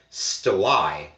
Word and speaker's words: stelae: And it's only recently that I've discovered that plural, because with the E on it, that's plural, should actually be pronounced stelae.